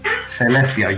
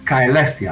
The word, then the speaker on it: Caelestia: all all things Heavenly Celestia you can also pronounce it kestia as in the old Latin way either CES or KES is the same thing but it means all